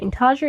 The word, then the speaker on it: intarsia: Intarsia is one of those words that I always think I pronounce it wrong.